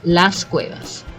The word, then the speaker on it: Las Cuevas: we visit is called Las Cuevas and uh I don't think I've heard that pronounced any differently to God yeah that's correct last Cuevas at least we got one right yes okay even further